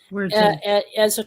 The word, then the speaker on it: Wirritjin: Am I pronouncing that right? The Wirritjin? Wirritjin.